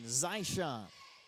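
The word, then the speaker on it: Zyshon: Spell it Z-Y-S-H-O-N. Zyshawn.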